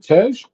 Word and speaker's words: Tej: Brian brief befriends car savvy um How do you pronounce dude's name? Uh Tej.